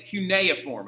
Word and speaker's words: cuneiform: So like it's cuneiform, okay?